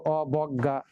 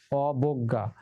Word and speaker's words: অবজ্ঞা: এরকম অবজ্ঞা, এই যে বয়ের সাথে অ আছে, তাহলে উচ্চারিত হতে পারতো অবজ্ঞা, কিন্তু না, বটা বো হবে, অবজ্ঞা।